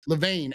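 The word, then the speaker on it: Levain: Anyway, Levane at the top of the list.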